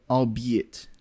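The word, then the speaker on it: albeit: come from English because it does sound like you were saying three words in one like all be it maybe that's what's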